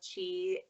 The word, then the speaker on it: Qi: Everyone, be sure to follow Queen of Chi, that's spelled QI, on Instagram.